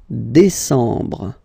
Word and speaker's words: décembre: And the last one, décembre, décembre, décembre. Same thing, E-M en décembre.